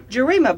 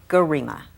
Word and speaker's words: Gerima: You're Ethiopian by birth, and it is Gerima. Yes, Gerima, I want to say it properly.